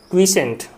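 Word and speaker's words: quiescent: यार इसको आप क्या पढ़ते थे मेरे भाई, इसका जो मेरे भाई प्रोनाउंसिएशन होता है ना, वो कुछ ऐसा होता है ना, क्विसेंट, क्विसेंट होता है मेरे भाई, ये क्विसेंट है मेरे भाई, है ना, ये क्विसेंट होता है ना।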